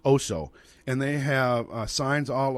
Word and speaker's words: Oso: In fact, it's pronounced Oso.